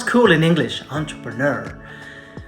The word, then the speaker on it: entrepreneur: Entrepreneur. Right, but it's a French word. So let's pronounce it the French way.